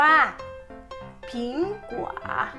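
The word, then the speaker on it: 苹果: ว่า แอปเปิ้ล นะ คะ ให้ เรา พูด ว่า ผิง กว่า Pink เฮ้ย เฮ้ย ทำ นี้ ผลไม้ คำ นี้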